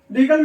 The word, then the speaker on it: regale: ये रीगल है, ये रिगेल है।